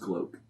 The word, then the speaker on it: Glock: it's Can pronounced gloke.